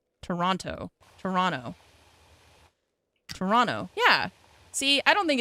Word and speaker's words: Toronto: You pronounce both T's in Toronto. Toronto.